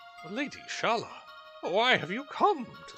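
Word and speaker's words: Schala: Shalia or Sha Shala? I think I'm I'm putting a phantom syllable in there. Lady Shala, why have you come to such a miserable place?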